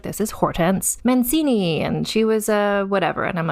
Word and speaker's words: Hortense: When you see it written out, it looks like Hortense Mancini. But in fact, it is pronounced Hortense, because that is a French name.